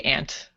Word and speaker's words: aunt: His aunt. I would say ant.